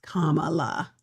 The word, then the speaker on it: Kamala: they can't you know pronounce her name right it's Kamala okay but anyway um how